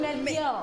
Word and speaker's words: Melchior: Il paraît qu'il y a plusieurs prononciations de la chose. On dit Melchior.